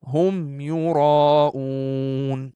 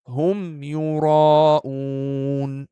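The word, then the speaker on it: هم يراءون: And in the third example, it will be Hum Yura'oon. Just pronouncing the Meem. Hum Yura'oon.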